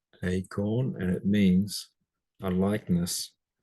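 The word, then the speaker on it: εἰκών: Hair is a definite article, and it's pronounced acorn, acorn, and it means a likeness or an image And you can see that we get icon from it, acorn, an image.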